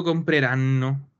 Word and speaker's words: compreranno: Voi comprerete e loro compreranno. Doppia N, compreranno.